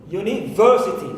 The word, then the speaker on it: university: And also university. So verb is my stressed syllable in this word.